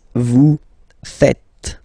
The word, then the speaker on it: faites: And it's quite funny because many French people tend to make the mistake and tend to say vous faisiez, okay? But then no. It's vous faites. Vous faites. Okay? So remember, final S here is not pronounced, and then this is not pronounced either. So faites, faites.